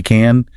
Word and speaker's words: can: Often, native speakers don't even really pronounce the can clearly. We use what's called a schwa sound. It's a very weak vowel. We don't say I can do it.